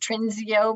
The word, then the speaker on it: Trinseo: And just the global scale of the new company, pronounced Trinseo, by the way.